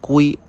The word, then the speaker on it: Qi: Primero hablaremos sobre el estándar de carga QI, el cual se pronuncia Qi, y es el más popular.